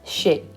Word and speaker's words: chez: We're not pronouncing the Z at the end. It's chez. Of or from is de.